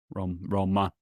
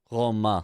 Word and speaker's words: Romain: said that, you know, the actual way to pronounce it is Roma. Romant, isn't it? No. There. No sound. It's just like a nasly uh Roma.